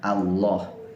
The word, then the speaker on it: Allah: ada pada lafal jalanan jadi ketika kita membacanya itu dibaca dengan sifat tebal teman-teman yang dimiliki Allah Subhanahu Wa Ta'ala jadi